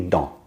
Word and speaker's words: dans: So we say dans, and the S stays silent.